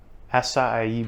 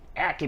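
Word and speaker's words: açaí: to do a quick acai berry or if you're from the south aki berry i don't care how you pronounce it it ends up being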